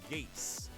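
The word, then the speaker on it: geas: probably uh apparently there's a spell in a tabletop game called geese but it's pronounced gase okay what does it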